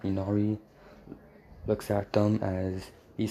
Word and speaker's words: Inari: he says, hello, Ninari, as I can't really pronounce his name right, so don't judge me in the comments, as Inanari, or however you say it, Inari, I think that's how you pronounce it, Inari, looks at them, as